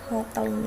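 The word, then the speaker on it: Hotelling: lowly hoteling gim ini bacanya l hoteling ya Hotel gak tahah jadi di sini untuk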